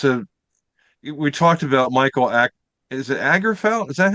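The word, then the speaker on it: Åkerfeldt: Akerfeldt. Akerfeldt. Yeah. Yeah. Akerfeldt. Yeah. It's probably Okerfeldt cuz it it has a a dot over the A, doesn't it?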